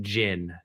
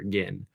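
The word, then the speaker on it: Agin: name all the time people say uh I think my last name is gin they say gin it's actually again so I feel bad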